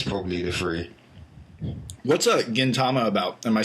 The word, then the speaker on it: Gintama: and Gintama those probably the three what's a Gintama about am I saying that right I'm sorry if I'm pronouncing that wrong yeah g yes you're saying